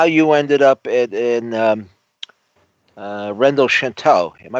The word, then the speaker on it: Rennes-le-Château: Well, why don't you explain what the theme is, and how you ended up in Rennes le Chateau. Am I pronouncing it correctly? Yeah. Rennes le Chateau.